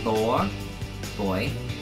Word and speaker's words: lawyer: lawyer rhymes with boy law boy you know lawyer the first syllable is like law right boy oh I